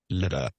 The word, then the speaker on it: لدى: لدى the word is لدى Okay, it لدى has to be pronounced لدى أستاذ، not لدي لدي.